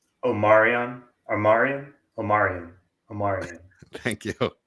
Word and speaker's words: Omarian: UNCC hold on hold on Mike how's that pronounced Omarian Omarian Omarian Omar thank you that's the official